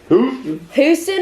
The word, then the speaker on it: Houston: like 100% happening, like Houston or Dallas. It's pretty much happening. So you just say it like my dad. Houston, yeah, your dad doesn't use the H.